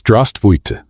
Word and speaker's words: здравствуйте: "No, it's not zdravstvуй, it's здравствуйте, with an E at the end."